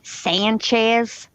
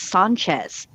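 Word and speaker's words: Sánchez: But that pronunciation, Sanchez, that is not anybody who speaks Spanish pronunciation. It's Sanchez, you know?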